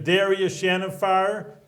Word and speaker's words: Darius Shahinfar: Darius Shahinfar.